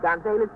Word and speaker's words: Gonzalez: Yes, I pronounce it Gonzalez. I'm not Spanish, you see.